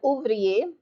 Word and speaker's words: ouvrier: And then you have ouvrier. Over here, I'm circling the feminine form. Ouvrier, ouvrier. U is your first syllable. Ouvrier, ouvrier. 3 syllables. Ours is 1 syllable. Ouvrier is a 3 syllable word.